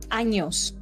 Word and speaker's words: Años: I hate Please us pronounce as a- the ñ. Please. It is Mexico. Años.